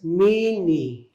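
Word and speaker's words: miinii: i so that's Berry so you have that double I in there and that's pronounced as meanie okay mean and yeah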